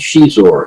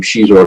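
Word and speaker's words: Xizor: Portuguese and so the the pronunciation of that XI is sh and so they had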